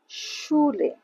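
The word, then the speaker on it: Schule: তাহলে লাং ওয়াইশ ওকে এরপরে এস সে হালে উচ্চারণ স এর মত কিভাবে সুলে আমরা এটাকে কি বলতাম স্কুল ইংলিশে বলি স্কুল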